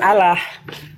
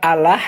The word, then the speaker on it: Allah: Jadi kalau kalau kita Allah itu kalau dalam bahasa Al-Qur'annya salah baca. Hm. Iya. Jadi kalau kami orang ee Islam itu sebenarnya Allah bukan Allah. Hmm. Kalau secara teks teks dalam Al-Qur'an ya memang dia tulisannya Allah ya karena alif lam lam ha Allah. Nah, tapi kalau cara membacanya dia ee seolah-olah A itu ee bersuara O.